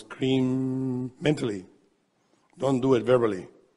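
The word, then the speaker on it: krim: eating we are pronouncing the mantra cream the mantra in sanskrit cream ca k-r-i-m an easy way to understand is if you like cream just but now that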